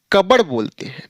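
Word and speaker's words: cupboard: में अलमीरा को यह कबड़े सी यू पी बी ओ ए आर डी लेकिन इसका जो प्रोनाउंस करेंगे कब जो कि गजब है जिसमें प भी गायन और र भी गायन है यही तो है प्रोनंसिएशन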